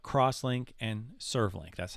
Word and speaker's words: CrossLink: are in your design they are called or pronounced icoia crosslink not x-link but crosslink and servlink that's how